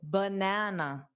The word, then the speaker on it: banana: So banana bbb not ba bb banana.